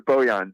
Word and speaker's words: Bojan: stumbled through that question jacob i couldn't have pronounced bogdan bogdanovich yeah actually it's bojan but it's buzzy yeah um well unfortunately i